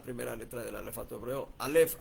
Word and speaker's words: Alef: Alef. Así suena, así se debe pronunciar o por lo menos así más o menos.